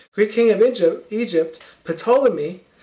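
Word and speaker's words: Ptolemy: king of Egypt Egypt potolami spelled like pterodactyl but we actually pronounce the p and the T not like so this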